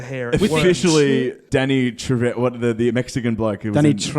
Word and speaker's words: Trejo: How do you pronounce his last name? Trejo.